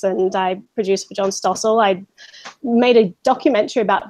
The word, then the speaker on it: Stossel: How do you pronounce his name? Stossel, yeah.